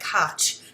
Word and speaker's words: Koch: It's pronounced Liz Koch, but it's spelled K-O-C-H. So if you look her up, make sure that it sounds like Koch, but it's pronounced Koch, Liz Koch.